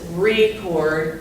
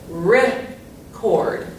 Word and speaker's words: record: First of all, you say it differently. Even the RE sounds different. In this one it's record, and in this one it's record. So the emphasis or the accent is after this syllable, so this is the one that gets a little bit of a punch. So we would say it, let's record a video. You can hear that the emphasis is on the cord part.